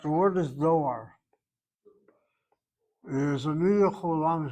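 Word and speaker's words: דואר: Okay, without vowels, Doar is spelled like this. To create the O sound, you have the long vowel there.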